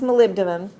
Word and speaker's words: molybdenum: these chromium molybdenum or as you learn to spell it Molly B denim but actually pronounce molybdenum copper silver and gold